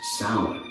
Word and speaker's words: Samhain: Their most significant festival was Samhain, pronounced Samhain, marking the final farewell to summer and the welcoming of the desolate, dark winter, a season deeply intertwined with death.